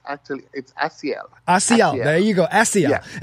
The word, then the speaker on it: Asiel: You did pretty good. A lot of people get stumble on it. It's Asiel.